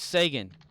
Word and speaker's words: Sagan: something Reagan yeah and I'm thinking dude it's Sagan and everyone in the like underneath like second